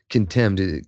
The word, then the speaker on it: condemned: Condemned. Condemned is how we pronounce that now and spell it. So that T became a D I believe but I could be wrong.